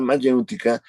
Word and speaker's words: mayéutica: La mayéutica, dicen los manuales de filosofía, que es el método socrático. Mayéutica. A ver, con acento en la U.